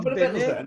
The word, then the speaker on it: בני: כשכתוב בני ישראל, כתוב בני עם יוד, ורוב העולם חושב שצריך לבטא את היוד. האמת שלא מבטאים את היוד, זאת יוד שקטה. צריך להגיד בני...